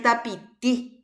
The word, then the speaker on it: tapiti: Ahí en tapiti. ¿Dónde pronuncio? En la última I.